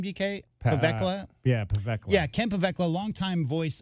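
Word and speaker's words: Pavelka: How do you pronounce his last name, DK? Pavekla? Yeah, Pavekla.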